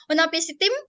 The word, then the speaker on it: Utnapishtim: Di dalam epos Gilgamesh ini, gitu ya, ada cerita tentang Nuh atau Utnapishtim, bacanya Utnapishtim.